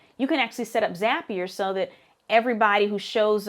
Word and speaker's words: Zapier: Using systems like Zapier, Zapier, rhymes with happier, Zapier, you can connect some of the different technical systems that you use.